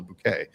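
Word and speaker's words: bokeh: out, that blurred out background is called a bouquet and it's spelled B O Kh.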